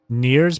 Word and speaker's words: Nier: And yes, spelled like Nier as in Nier Replicant, but her name is Nier.